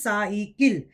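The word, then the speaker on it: साइकिल: So just in English, just like in English, you say cycle, but the pronunciation in Hindi is cycle.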